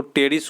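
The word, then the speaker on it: Pteris: समुद्री फर्न की बात करें तो टेरिस को कहते हैं, टेरिस लिखने का देखिए पी साइलेंट है, टेरिस को समुद्री फर्न कहते हैं।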